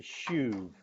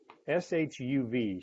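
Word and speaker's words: שוב: The little word return is a Jewish word pronounced this way, shuv, S-H-U-V, shuv.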